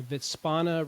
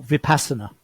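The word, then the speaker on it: Vipassana: the V and if I pronounced it wrong, the Vitzpana retreat. Oh, Vipassa. Yeah, Vipasa.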